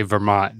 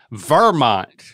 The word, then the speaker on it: Vermont: say Vermont dad Vermont you got to emphasize the ver is that how they say it up there welcome to Vermont uh no I think that that they said Vermont right they emphasized the Mart I think but don't